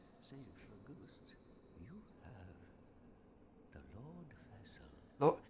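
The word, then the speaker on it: Lordvessel: ghost you have the Lord vessel why does everyone say it like that it's Lord vessel not Lord vessel the Four Kings whom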